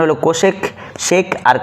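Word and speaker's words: sec: সি ও এসই সি কোসেক উচ্চারণ করব। তারপরে পাঁচ নম্বর আছে সেকেন্ড। এটার উচ্চারণ করব এসই সি সেক নিব।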